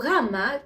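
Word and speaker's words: γάμμα: to the letter rama sometimes even weak greeks try to connect it with the letter g but it doesn't produce the sound goo so gamma can be described as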